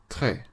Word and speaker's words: très: The letter E with a grave accent, like the one in très, should be pronounced like the E sound in the English word fed, so très.